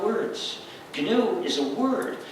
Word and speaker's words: GNU: The name of the system is GNU, G-N-U, spelled G-N-U, but it's pronounced GNU.